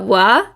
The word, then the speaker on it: は: We write the particle wa with the hiragana ha instead of wa.